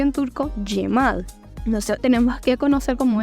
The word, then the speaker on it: Cemal: Y una cosa muy importante también que nosotros tenemos que identificar es que la C turco no se pronuncia como la C de nosotros, sino como una Y.